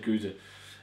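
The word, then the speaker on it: gueuze: goose there's so like it depends on where you're located in Belgium the way you pronounce it I've always said go uh but uh it's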